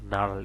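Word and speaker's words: gnarl: Same একই রকম এখানে জি এন এ আর এল, এখানে জির উচ্চারণ না আসে এন এ আর এল, নার্ল এর উচ্চারণ হচ্ছে।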